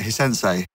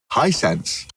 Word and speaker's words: Hisense: do you say it hey sensei hi Hisense buddy I've always been